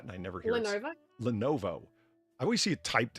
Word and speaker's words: Lenovo: Lenovo. I always see it typed and never written or never heard it spoken. That's why I, you know, dropped the ball there. Lenovo.